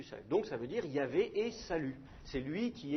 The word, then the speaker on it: Yahvé: Nous, par convention, on prononce Yahvé, quelque chose comme ça, mais c'est une convention, c'est peut-être la prononciation primitive, mais on en discutera une autre fois si vous voulez.